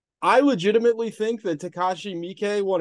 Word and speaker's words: Miike: I used to call him Takashi Mike, but it's Miike.